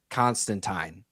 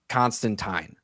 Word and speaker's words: Constantine: Canonically, he's John Constantine, not Constantine. Okay. The movie is what changed it. If it weren't for this movie pronouncing his name as Constantine every single time, he would canonically still be John Constantine. Like turpentine.